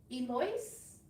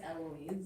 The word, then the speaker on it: Eloise: Eloise, did I say it right? It's Eloise. Eloise, oh.